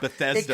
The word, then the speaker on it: Bethesda: I'm trying to say it like an elf name, and it's just Bethesda, Maryland. It confuses you because it looks like a fantasy name, but it's just a shitty suburb in Maryland.